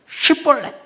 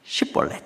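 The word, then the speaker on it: שיבולת: 에브라힘은 슈벌렛 이렇게 봐. Պ릿 근데이 증면 벌렛 이렇게 발음을 하는 거예요.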